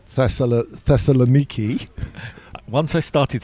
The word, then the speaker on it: Thessaloniki: And in Hebrew, I think they say Saloniki. Right. And we will hear, I'm sure, most of the time that we are over there, something like Thessaloniki.